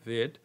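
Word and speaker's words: read: I have I have রেড Nazrul's novel আমি নজরুলের উপন্যাস পড়েছি তো প্রিয় শিক্ষার্থী বন্ধুরা প্রেজেন্ট ফর্মে রিড উচ্চারণ হয় কিন্তু পাস্ট ফর্ম ও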